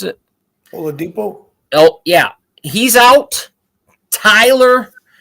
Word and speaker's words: Oladipo: You got Miami has Victor Aldipo. Is that how you pronounce it? Oladipo?